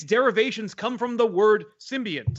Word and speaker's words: symbiont: I think it's supposed to be symbiont, which is symbiont, by the way, pronounced symbiont with an N.